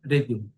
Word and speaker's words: Rege: am I pronouncing correctly? Rege, is it Rege. correct? Yeah, Rege.